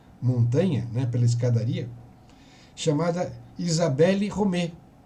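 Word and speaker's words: Isabelle Romée: né pela escadaria chamada Isabelle romet que em francês se pronuncia Isabel Romeu quem que era essa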